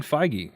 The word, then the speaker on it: Feige: determined and that's a Kevin how do you pronounce his name I was looking up JD Dillard Uh Kevin feige feige okay so Kevin feige is also getting